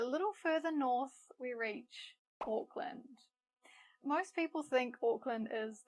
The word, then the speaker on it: Auckland: Now, I sometimes hear learners pronounce it like Auckland, which kind of makes sense. I mean, it is spelt like land, but the correct pronunciation is Auckland.